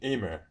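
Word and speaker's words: Emmer: about spelt, kamut, and Amer? I think I pronounced it really right. I think it's Emer.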